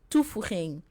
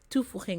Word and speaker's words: toevoeging: So next week, the word that I asked, toevoeging. Next week I'll come back on Saturday. Toevoeging, what does toevoeging mean?